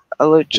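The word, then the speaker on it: Alachua: Alucha.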